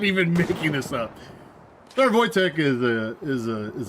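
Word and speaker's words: Wojtek: L201 Voytech. If you don't know who Voytech is, go look up uh I think he retired as a sergeant. Sergeant Voytech. And that's how it's spelled, but it's Polish.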